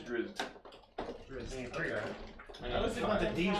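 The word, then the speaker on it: Drizzt: it's Dritz, not What do you Drizzit. call an undercover bug? That's spelled Dritz.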